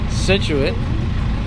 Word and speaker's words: Scituate: Now here we are in how do you say this place? Scituate. Scituate. Here she is again.